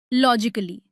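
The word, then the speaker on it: logically: जब कोई वर्ड इकली पर खत्म होता है तो वहां ए साइलेंट रहता है। जैसे लॉजिकली इसे लॉजिकली नहीं लॉजिकली बोले। म्यूजिकली, फिजिकली और क्रिटिकली। यहां ए का साउंड पूरी तरह गायब हो जाता है।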